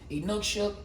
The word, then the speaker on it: Inukshuk: I've heard people pronounce it different ways, but that's how we're going to pronounce it. Inukshuk.